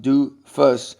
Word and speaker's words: doofus: say my definition of a or a doofus pronounced do fuss is anybody Whose advice